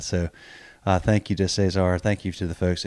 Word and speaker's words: Cesar: language Spanish so sorry the r pronunciation at the is at the end of the name is very strong and then when you